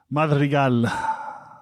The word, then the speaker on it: Madrigal: Which one do you say? Madrigal. Really? Yeah. That's how you'd say it? Like if I said, what's your name? You'd say Madrigal.